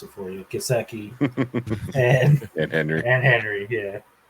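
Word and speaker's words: Gesicki: two good tight ends with kaseki I'll I'll pronounce it for you kaseki and Henry and Henry yeah I I do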